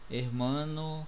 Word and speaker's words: hermano: Então é o seguinte, toda vez que tiver que aparecer no final da sílaba uma letra com S ou uma letra com N ou uma vogal, o som forte aqui vai estar no meio, tá?